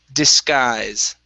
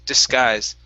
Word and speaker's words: disguise: to pronounce so it's disguise disguise okay so the first s okay instead of being disguise it's dis okay unvoice s disguise this guys good all